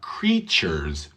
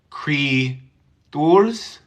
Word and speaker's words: creatures: that did I say Cree tours no what do you hear what do you hear on this tea creatures creatures thank you for translating it but Cree Church exactly it's a CH sound creature feature um yeah